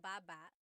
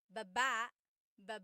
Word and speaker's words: baba: Baba. Then there's ba ba ba. Emphasis is on the second syllable syllable. That means to go down. Baba, like going down an elevator.